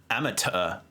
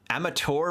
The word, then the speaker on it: amateur: kind of Wonder like amateur versus amateur since you know with American English we pronounced amateur with a with a CH interesting crush cabino and